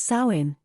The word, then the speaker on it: Samhain: The history of Halloween can be traced back to the Celtic festival of Samhain, pronounced Samhain, which was celebrated in what is now modern-day Ireland, Scotland, and Wales.